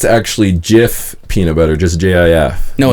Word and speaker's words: Jif: Like GIF, but with a J. Pronounced Jif.